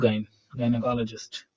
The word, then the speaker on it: gynecologist: ज ग प्रोनाउंसिएशन में काफी कॉन्ट्राडिक्शन है। लिखेंगे हम लोग जाइन, पढ़ेंगे हम लोग गायनेकोलॉजिस्ट।